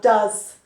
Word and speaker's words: does: The pronunciation changes as well, does.